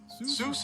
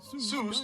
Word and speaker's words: Seuss: here's a fun fact Zeus is supposed to rhyme with voice not Goose the doctor never minded that people mispronounced it a creative kid Dr Seuss was born Theodore Ted Zeus Geisel on March 2nd 1904.